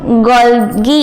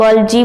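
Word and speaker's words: Golgi: से कहना चाहा शब्द इसको हम गोलगी इसलिए बोलते हैं कई लोग लालची भी बोलते हैं गलत बोलते हैं बट एवरी फील्ड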